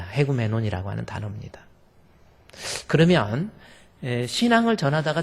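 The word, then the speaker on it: ἡγούμενον: 에라는 발음이 앞에 나와 있는 에 발음 앞에 이 기식과 강기식이 있는데 액센트가 거꾸로 확 뒤집어진 것 같은 거, H 발음을 하라는 뜻이에요. 그래서 에구메논이 아니라 헤구메논이라고 하는 거.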